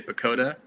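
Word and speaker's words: PECOTA: what that stands for I just say pakoda because that's what it's spelled like Peco ta and these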